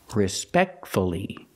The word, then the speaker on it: respectfully: Let's practice with respectfully, pronouncing the U. Fully, fully, fully. Respectfully, respectfully.